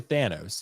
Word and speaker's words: Thanos: Yeah, they said Thana instead of Thanos, they said a Thon. What was it? Cuz it's normally Thanos.